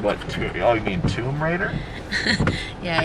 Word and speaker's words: Tomb Raider: i knew the the right um pronunciation i pronounce it as tom ryder tom ryder yeah at first i didn't even know what she was talking about and then she's i'm like what oh you mean tomb raider yeah it's what is it honey tomb raider